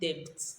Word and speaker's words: debt: Debt. The B is silent. Debt.